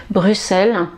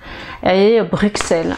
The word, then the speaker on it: Bruxelles: aussi de cette façon c'est bruxelles comme si vous aviez deux aces voilà bruxelles bruxelles alors sincèrement je ne sais pas si ma prononciation est correct dans le doute donc j'ai écouté dans la rousse et il propose bruxelles donc je dirais que la bonne prononciation c'est bruxelles avec un x voilà un autre mot